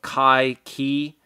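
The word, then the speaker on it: Cai Qi: to be a guy by the name of Kai Qi. That's spelled Caiqi, and he was the guy who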